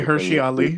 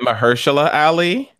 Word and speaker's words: Mahershala Ali: Did you say Hershey Ali? What'd you say? I said Mahershala Ali. Is that how you say his name? Yes.